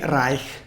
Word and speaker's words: Reich: name is lilly reich pop rake in german it would be lily rai ok sorry for my